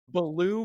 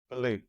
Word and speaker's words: Ballou: latest macro podcast I'm honored to introduce Brendan Balo am I pronouncing that corrected Baloo but any version is fine Belo I love it it's a great name BB